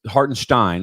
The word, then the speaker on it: Hartenstein: in high school was if it's EI you pronounce the second letter IE you pronounce the second letter it'sin it's actually uh hartenstein is actually his creator